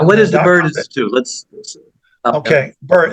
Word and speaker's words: Byrd: Bird. It's spelled BYRD.